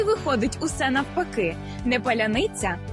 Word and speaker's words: паляниця: загальнонаціональний пароль тобто шибулет паляниця який росіянам зовсім не підде чому Бо в російській вимові немає м'якого звука ц наприкінці слова і носії там Несвідомо